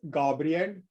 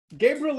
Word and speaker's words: Gabriel: So we also have it in Norway, and then it's Gabriel, the usual way of pronouncing it, but Gabriel is fine. Gabriel is totally fine too.